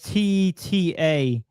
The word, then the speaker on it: Tetairoa: I know Tetorora McMillan. Isn't it TEI? No, it's TETAIROA. You said TETA. Oh, yeah. I don't know. Yeah, McMillan. Tetorora McMillan.